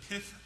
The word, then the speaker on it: pith: well there's another exception and this is the pith of the least exception no I didn't stutter that's the way it's pronounced p-i-t-h pif of the lease which means